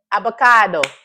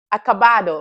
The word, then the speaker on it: acabado: Avocado. Acabado. Oh, I said it right. I was so close to saying avocado, so bad.